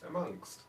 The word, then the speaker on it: amongst: Amongst. But there's no K in it. I'm not putting a K in it.